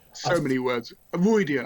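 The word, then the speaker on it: Rhuidean: like so many words royan I go for royan when I read it I don't know why I think that Michael Kramer said Roy Dean and I was like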